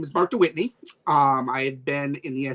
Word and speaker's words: Mark de Wytteney: And with me tonight is Excellency Mark de Wytteney.